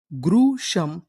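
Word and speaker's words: gruesome: जी आर इसे क्या पढ़ना है? ग्र। और आगे लिखा है यू ई। तो इतनी मीनिंग गुरु एस ओ एम ई। इसे क्या पढ़ते हैं हम लोग? शम। तो पूरी मीनिंग गुरु शम। ग्रुशम।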